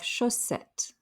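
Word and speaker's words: chaussettes: show set just like but we have chossette don't say the s at the end a pair of stockings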